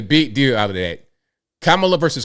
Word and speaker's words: Kamala: He was having an argument with her on CNN about how to properly pronounce Kamala Harris's name. They make a big deal out of that. Kamala versus Kamala.